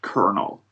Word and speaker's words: colonel: um, And also, this is going to sound really counterintuitive, but colonel is actually pronounced colonel in Colonel, English.